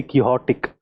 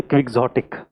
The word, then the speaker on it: quixotic: The Quixote is the spelling, and when you say he is a very quixotic. I used to speak. I did not know this pronunciation. हम बोलते थे quixotic. Actually, quixotic है वो.